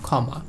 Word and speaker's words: ক্ষমা: যেমন দেখেন ক্ষমা, ক্ষমা, শব্দের প্রথমে রয়েছে, এর উচ্চারণ হবে ক্ষমা, ক্লিয়ার।